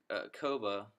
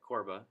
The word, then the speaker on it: CORBA: Okay, so here I'm creating my COBA project. CORBA, sorry. Yeah, CORBA. Sorry, I keep saying it wrong.